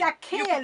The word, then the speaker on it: Akinyelure: Even in BBC, I'm not going to pronounce the name. It's Akinyelure.